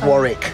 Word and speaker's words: Warwick: though they should probably learn how to pronounce warwick's name it's warwick sneakerella trailer i just